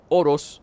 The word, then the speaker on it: Oros: Encuentra recursos de choza por todo Oros, o Urus, como lo pronuncian ellos.